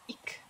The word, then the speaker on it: ich: Ish kan låta som ish och ick beroende på var i Tyskland det uttalas.